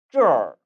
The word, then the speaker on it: 这儿: 따라서 这儿 어때요?